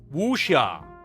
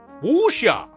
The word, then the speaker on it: Wuxia: Pronunciation. Wuxia. Wuxia.